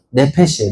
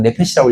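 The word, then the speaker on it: נפש: 그냥 내패시라고 읽으면 됩니다.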